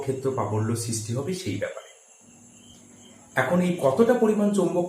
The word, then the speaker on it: Biot: বায়ো Savart সূত্র, এবং এখানে বায়ো টিটা সাইলেন্ট থাকে।